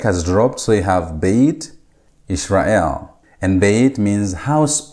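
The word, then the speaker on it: בֵּית: Now, Beit is coming from the word Bayit. As you can see, it has been constructed or changed. The Patach has been changed into a Sereh, and the Hirek has dropped, so you have Beit Yisrael.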